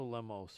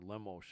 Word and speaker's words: Lemos: what do you think angela lemos or lemosh i think as they pronounce it has been just